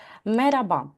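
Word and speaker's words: merhaba: Ну, наприклад, перша картинка - це в нас слово мераба. Зверніть увагу, воно пишеться мерхаба. Там є літера Х, але в розмовній мові, якщо ви були в Туреччині, подорожували або знаходитися в Туреччині, то ви чули, мабуть, що кажуть меряба.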